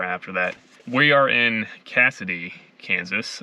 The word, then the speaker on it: Cassoday: are in cassidy kansas i wanted to be sure how to pronounce that because i think only about 100 people live here and i was pronouncing it casso day but i asked somebody here and they said it was cassidy i'm a little bit